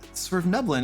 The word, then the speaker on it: Svirfneblin: You can pronounce Svirfneblin. This confounds me. Yeah, it's Svirfneblin.